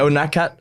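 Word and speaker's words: Unadkat: I can't pronounce it. Yeah, Unakat.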